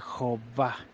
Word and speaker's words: Jehová: Yud, Hei, Vav, Hei, que se puede pronunciar gramaticalmente correcto de acuerdo a las evidencias que hay en los manuscritos, de un total de más de 1750 manuscritos masoréticos y no masoréticos, que pronuncian el nombre como Jehová.